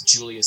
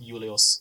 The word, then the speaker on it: Julius: All V's will be pronounced as a W, and all J's will be pronounced as a Y. For example, instead of Gaius Julius Caesar, it will be Gaius Julius Caesar.